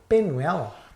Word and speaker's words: Penwell: Pen, is it Penel? What's his name? Pen. And fuck that, man. Maybe you must know that, man. Penwell, there we go. Penwell. That's how you say his name.